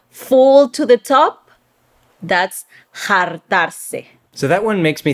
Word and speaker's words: Jartarse: Moving on, the next one we have is Jartarse or Jartarse. Is that how they say it? Usually the R's turn to L's in Puerto Rican Spanish.